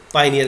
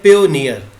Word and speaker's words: Payoneer: जो बानी होते हैं उनमें से उसको पाइनियर कहा जाता है। तो ये बिल्कुल गलत है, प्रोनाउंस आपको सही करना है। ये है पेयोनियर, कि हमने इसको इस बाई पार्ट्स किया ऐसे आपको ताकि प्रोनाउंस करना आसान हो जाए। पेयोनियर, तो आपने इसको सही करना है पेयोनियर।